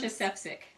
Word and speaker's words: Marsha Sefcik: How do you pronounce? Marsha Sefcik.